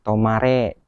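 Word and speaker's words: 止まれ: Ini ada kanji apa nih? Nah, dibacanya tomare.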